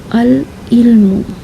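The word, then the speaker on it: العلم: अल इल्मु, अल इल्मु। ये हुरूफ कमरिया को प्रोनाउंस करने का तरीक़ा है।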